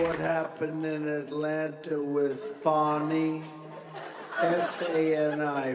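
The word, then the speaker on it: Fani: You saw what happened in Atlanta with Fonny? F-A-N-I, Fonny. How do you pronounce F-A-N-I, Fonny?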